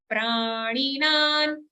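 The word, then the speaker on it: प्राणिनां: Vaishvanaro bhutva praninan. Prani, here in ni we have a ban karna. Okay, prani. but the next na is a dantya, dental na sound.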